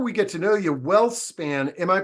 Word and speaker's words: WhealthSpan: And Scott, before we get to know you, WhealthSpan, am I pronouncing it correctly?